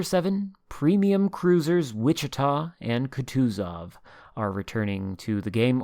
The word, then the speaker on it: Kutuzov: premium cruisers wichita and kutuzov are returning to the game or kuduzov as most everybody except me pronounces it kuduzov is the new